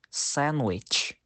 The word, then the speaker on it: sandwich: example muscle science now the letter D is usually silent in the word sandwich the letter D can